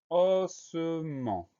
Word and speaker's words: ossement: On pense à mettre le T muet à la fin de ossement.